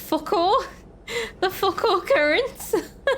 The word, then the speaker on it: Foucault: The focal current. Apparently it's French and it literally pronounced Foucault.